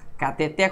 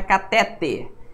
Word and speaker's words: cateter: Cateter, cuidado, não é catéter. É cateter. A pronúncia correta é uma palavra oxítona, não tem acento, né?